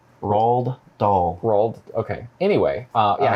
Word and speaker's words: Roald Dahl: the dogs oh you're we're not saying that right no it's hot as you pronounce it roald dahl okay anyway uh yeah